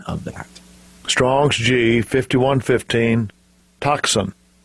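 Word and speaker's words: τόξον: Strong's g51 15 and here is the correct pronunciation of that Strong's g51 15 toxin toxin so we have toxin sounds like something that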